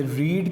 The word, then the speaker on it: read: First form को हम रीड पढ़ते हैं, सेकंड फॉर्म और थर्ड फॉर्म को हम रेड पढ़ते हैं RED के तौर पे, लेकिन स्पेलिंग सेम होते हैं रीड वाले।